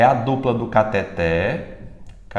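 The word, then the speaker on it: cateter: Como é que a gente quer pronunciar essa palavra aqui? Catéter. Pronunciando como se fosse uma paroxítona. Na verdade, ela é uma oxítona.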